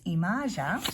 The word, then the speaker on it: Yemaya: card in here and the pronunciation from this book is IMA so Ima and she's portrayed here